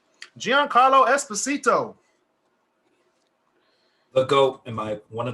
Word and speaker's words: Giancarlo: Giancarlo.